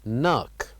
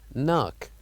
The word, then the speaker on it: knock: we have the word knock knock so here the K is silent and we say knock knock and also the word